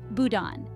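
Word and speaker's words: boudin: beliefs then we have Budin pronounced Budan this is a type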